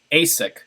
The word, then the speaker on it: ASIC: security and investment commission asic kind of rhyme with the sneaker company right asic i think